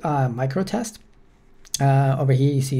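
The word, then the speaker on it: µTest: It's called MicroTest. Over here you see it's spelled with U-test, but over here you see a microtest, and it also mentioned somewhere here pronounced microtest, right?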